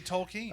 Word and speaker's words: Tolkien: could be Tolkien. Tolkien? How do you pronounce it?